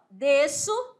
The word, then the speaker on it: desço: D, esse som desse S aqui não é pronunciado. É DC, mas na hora da escrita você tem que colocar o Szinho aí. Aí, S cedilha aqui, ó. Desço.